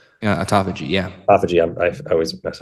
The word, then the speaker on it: autophagy: like the the um how how do you pronounce this autophagy yeah autophagy yeah autophagy I always messed up the word